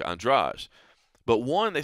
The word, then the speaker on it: Andrade: Jessica Andreas right now before we knew that that was the pronunciation you probably would have said Andrade but now we know there's that real uh pronunciation and uh so it's Jessica andrage but one they say